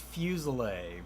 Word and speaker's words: Fuselier: ask um is it fuselier or fused liar or how do you print your last name it is pronounced fusile but Fusion nobody gets it right yeah you know I